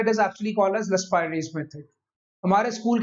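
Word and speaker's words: Laspeyres: सबसे पहला लिखते जाए साथ साथ, इसको कहते हैं लस्पाइरेज मेथड। अब सुनिए भाई, बहुत सारे हमारे खासकर पंजाबी भाई बहन इसको बोलते हैं लस्परे। भाई लस्परे कुछ नहीं होता, इट इज लस्पाइरेज, याद रखिएगा।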